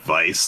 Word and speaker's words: Weiss: So, I'd say just say it like Vice, like Miami Vice.